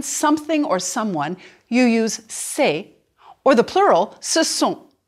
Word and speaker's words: c'est: Now, put your hand back and say, c'est. There should be much less movement. C'est is just 1 vowel sound.